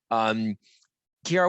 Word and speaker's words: Chiara: Kiara, what's the best way for folks to reach out to us, actually?